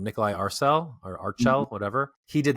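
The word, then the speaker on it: Nikolaj Arcel: I think it's Nikolai is how you pronounce his name. Nikolai Arcel or Archel, whatever.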